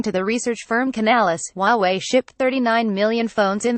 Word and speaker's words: Huawei: our South Korean ones Huawei pronounced Huawei is already well known